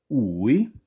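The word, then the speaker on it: új: Now, I don't know about you, but I, I don't really spot the difference in pronunciation there.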